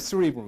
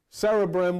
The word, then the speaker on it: cerebrum: What's interesting, in the cerebrum, it's not the cerebrum, it's cerebrum, that's the way it's pronounced.